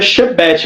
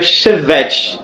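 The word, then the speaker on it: שבט: é a palavra geralmente você pronuncia chebet Mas seria Chevet né que seria a palavra Hebraica para vara sempre que você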